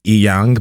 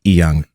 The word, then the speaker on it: Inyang: Did I pronounce that correctly? Well, you said my first name right. My last name is Inyang, but I just say Inyang because it's easier